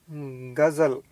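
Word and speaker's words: ग़ज़ल: हैं तो बनता है गजल, ठीक है। लेकिन अब अगर इन ग और ज को हम साथ में लेते हैं तो बनता है गज़ल। तो ये इसका सही वर्ड का सही उच्चारण है गज़ल।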